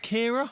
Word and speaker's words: Ciara: But Kira wasn't exactly. Was it Kira? Yeah. But it was spelt C-I.